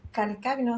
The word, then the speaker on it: Calcagno: Estamos acá con Walter Calcagno, así se diría, ¿no? ¿Dije bien? Calcaño se pronuncia.